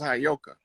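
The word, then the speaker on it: Heyoka: I was telling you that that word is properly pronounced as Hayoka.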